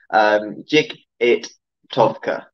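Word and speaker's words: джигитовка: So there is actually a sport of, it's called Jigatovka, okay? Jig-it-tovka is how you say it. It's a Russian word, of course, because trick riding really originates from the Cossacks in Russia.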